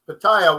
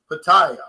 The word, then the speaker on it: Pattaya: noticed that the prices even between bangkok and pattaya which is about about an hour and a